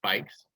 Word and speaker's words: BYCS: In addition to being the transit specialist for the city of Alexandria, she was recently selected by Amsterdam-based organization BYCS, which is pronounced bikes, to be the bike mayor for the DC region.